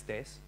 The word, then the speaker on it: Thijs: for having me now my name is days but I'm seemed to notice that a lot of UK speaker or a lot of UK people have difficulty pronouncing my name so if you ever want to walk up to me and say my name right just think of this this is a Taser you just say taste ok now we got